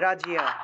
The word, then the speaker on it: রাজ্য: হ্যাঁ, রাজিয়া, রাজিয়া, ঠিক আছে, অর্থাৎ র আকার বর্গীয় জ আসবে সাথে রস্যই যুগ অন্তস্থ, অর্থাৎ ইয় শব্দটাও আসবে, তাহলে রাজিয়া, রাজিয়া এরকম উচ্চারণ করতে পারি, রয়কারে রা বর্গীয়